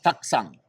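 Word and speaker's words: Taktsang: Taksang.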